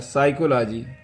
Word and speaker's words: psychology: Meaning लिख दिया मैं, मगर इसको पढ़ा जाएगा साइकोलॉजी। क्या पढ़ा जाएगा, पी साइलेंट होता है, साइकोलॉजी।